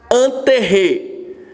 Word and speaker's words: intérêt: Intérêt. Vou repetir, a pronúncia do francês.